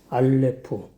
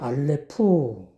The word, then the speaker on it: 알레프: 성경 알파벳 23자 구속사의 의미 오늘 첫 시간은 알레프 히브리 알파벳 23살 중에 시작하는 단어 알렉 알렙인데 발음을 알레프 그래요 저 한 자만 쓰면 알렙이라 그러고 만